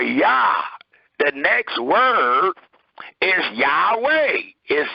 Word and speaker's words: Yahweh: h w h and two vowels are added to those continents and the two vowels as we all know are a and e which will give you the pronunciation of yahweh not jehovah not uh any other rendering um according